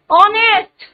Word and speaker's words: honest: R is the silent letter in this word. Honest.